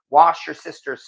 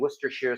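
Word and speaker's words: Worcestershire: she's adopted and nobody told anyone I'm joking wash your sister's sauce I could get out some of that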